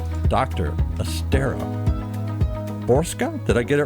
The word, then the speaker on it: Borcsa: Estera Borsca. Did I get it right? It's pronounced It's spelled Borks. It's It's spelled differently, but it's pronounced Borsca.